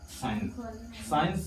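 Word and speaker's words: science: य लिखा हुआ है साइ साइंस में सी क्या है साइलेंट है जैसे की य लिखा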